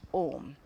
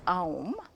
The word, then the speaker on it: Om: And that's why this combined with this is pronounced Om. And you've heard Swamiji's pet peeve. That is his pet peeve. Do not pronounce. Technically, it is not right to pronounce it as Aum, A-U-M, though I know